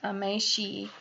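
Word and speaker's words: 名刺: For Japanese business professionals, a business card, pronounced meishi, is an extension of their identity.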